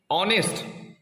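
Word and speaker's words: honest: fast letter হলো এইচ এইচ যদিও একটা কনসোনেন্ট কিন্তু এর প্রোনাউন্সিয়েশন হচ্ছে অনেস্ট অ এর মত তাই এই ভাওয়েলের মত প্রোনাউন্সিয়েশন হওয়ার কারণে এখানে বসবে এন এখানে কিন্তু এ বসবে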